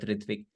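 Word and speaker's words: ṛtvik: The letter starts off saying that Srila Prabhupada would appoint Ritvik, Bengali pronunciation of the word Ritvik, representatives of the Acharya.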